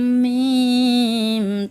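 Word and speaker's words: ميم: লাঠির মতো দেখা যায় তার নাম মিম, তার নাম মিম।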